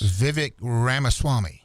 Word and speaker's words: Vivek Ramaswamy: number 10 here is, now how do you pronounce this guy's name? You know who this is? Vivek Ramaswamy.